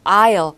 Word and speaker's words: aisle: aisle. 발음에 주의하셔야겠죠? S는 발음하지 않습니다.